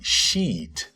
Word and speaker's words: sheet: Cuidado com a pronúncia desse sheet. Observem como a minha boca se abre pro lado, assim, ó. Sheet. Spreadsheet. Tenha cuidado para não falar outra coisa.